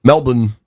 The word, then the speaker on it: Melbourne: Melbourne is how they pronounce it. I feel like a fool when I say it without the Australian accent, but here we are.